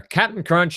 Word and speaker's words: Cap'n Crunch: cereal mascot site Adam Captain Crunch and good pronunciation there Cap'n Crunch is correct sir sticky note e CA P